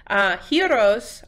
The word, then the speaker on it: gyros: is actually he so you want to say it almost like a hero big and strong a hero heroes are basically like Greek